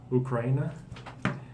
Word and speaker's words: Ukraine: It's kind of strange, but in English we say Ukraine. Ukraine. Yeah. But every other country in the world says it with oo. So it's just English that we say it wrong. We say it wrong, but it's the correct way to say it in English.